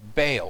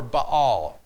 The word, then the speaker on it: Baal: So Elijah has this showdown with this god Baal, or Baal, depending on how it is you wish to pronounce it.